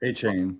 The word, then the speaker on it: Etienne: Travis Etienne? Etienne. A-Chain.